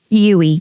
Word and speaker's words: Uwe: How do you pronounce the name of your business? UE.